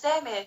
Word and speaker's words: Demi: the me yeah it's demi yeah people say it's like demi moore i'm like yeah kind